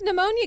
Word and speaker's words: pneumonia: And one of them's like, Why's pneumonia gotta pee? Why can't you just drop the P?